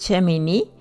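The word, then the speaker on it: שמיני: Bueno, pues vamos a la paracha número 26, que es Shemini, que está en el libro de Levítico 9:1 al capítulo 11:47. Amén. Shemini, que algunos pronuncian Shemini sin acento, significa octavo.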